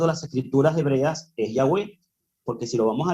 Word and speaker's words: Yahweh: originales es Yahweh pero yo diría que la pronunciación del nombre de acuerdo a las escrituras hebreas es Yahweh porque si lo vamos a leer de acuerdo